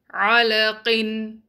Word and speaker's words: عَلَقٍ: عَلَقٍ. Make sure your عَيْن is not a hamza.